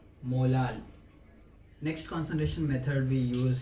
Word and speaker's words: molal: Unit wise, if you see, unit of molarity is mole per kg, or simply write small letter m, but you have to pronounce it as molal.